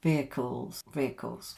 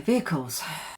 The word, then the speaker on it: vehicles: We don't actually pronounce the H here, so we pronounce it as like this. Let me write it for you. Veer, and then vehicles. Okay, vehicles.